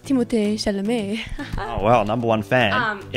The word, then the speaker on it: Timothée Chalamet: It's actually pronounced Timothée Chalamet.